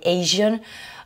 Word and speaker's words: Asian: Et là, vous remarquez aussi une singularité dans la prononciation sur ces mots-là, Asia et Asian. Vous avez le S qui se prononce comme un je.